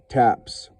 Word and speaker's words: TTAPS: activists listed their names to spell ttaps taps pronounced taps the bugle call proclaiming lights out or the end of a military funeral until 1985 non propagandizing